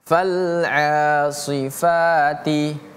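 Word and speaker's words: فالعاصفات: yang berdiri di atasnya fanya juga panjang huruf fa jangan kita baca pa pal a pal bukan pal ini fa huruf fa oke Oke. Fal asifati asfa.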